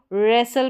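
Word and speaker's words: wrestle: अब इसको बस्टल नहीं बसल इसको रेसल पढ़ेंगे। अब यहां पर देखेंगे तो डब्ल्यू भी साइलेंट है और यहां पर रेसल हो गया।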